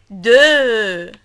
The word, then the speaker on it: deux: Le X est muet. Le X is silent, ok? Ok, if you remember, we took the end of this word, E-U-X, we took it in deux.